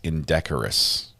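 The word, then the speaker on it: indecorous: And I know how to say it now. It's indecorus. in decorus not integral.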